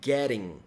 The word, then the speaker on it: getting: Perceberam que a pronúncia é getting, tá? Então, quando você tem o get com o ing, quando tem um som de vogal aqui depois, quando você tem, na verdade, um T ou dois T's entre duas vogais, esse T fica com o som do nosso R de aranha, areia, né?